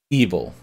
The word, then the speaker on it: Eville: And like, Eville, making me regret the social part of social deduction, and by the way, that is how they pronounce it in their tutorials. Eville is yet another social deduction game similar to